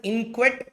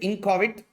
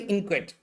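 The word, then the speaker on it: inchoate: See how to pronounce this? This is called as inquet instrument. What instrument? Inquet instrument. Okay. Uh normal English they also call it incoit but it is actually inquate.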